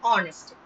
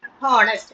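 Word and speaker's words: honest: ஏன்னா ஹெச் வந்து எல்லாத்துலயும் சைலண்ட். சைலண்ட்னா என்ன மீனிங்? நம்ம அந்த வேர்டை ப்ரொனவுன்ஸ் பண்ணும்போது அந்த ஹ அப்படிங்கிற சவுண்ட வெளியில கேட்க கூடாது. அவர், ஆனர், ஹானஸ்ட் அப்படின்னு கேட்க கூடாது. அவர், ஆனர், ஆனஸ்ட் அப்படிதான் கேட்கப்படும்.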